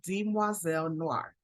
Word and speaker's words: Demoiselle Noire: so a little bit about the etymology of Dean moiselle Noir and that's how it is pronounced di moiselle Noir it comes from the French term for young